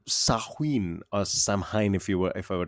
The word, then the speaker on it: Samhain: It is spelled Samhain, but it is pronounced Oh, Samhain. hi. Samhain.